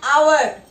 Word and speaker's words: hour: In both the cases, this H is silent. We don't pronounce H. We pronounce from O. That is honest and hour.